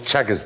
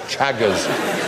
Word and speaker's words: Chagas: Causes something called Chagas disease, which is extremely unpleasant. Anyway, Chagas? Not Chagas. It makes you take your clothes off on Channel 5. No, it's not. It's Chagas, not Chagas.